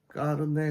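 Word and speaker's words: carnet: 자, 까르네 같은 경우는 원래는 이건데요. 현대 스페인에서는 이렇게 많이 씁니다. 어른들은 위에 걸로 많이 쓰고요. 지금은 밑에 걸로 많이 씁니다. 이거 원래 프랑스어 단어라서 그 끝에 있는 T가 발음이 안 되는 거예요.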